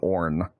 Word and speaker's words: Aorn: And the god name for the one note is Orn. It's spelled Aorn. If it ever gets recombined and it chooses to descend down into the material plane, for example, it would take on the name Orn, the one god, and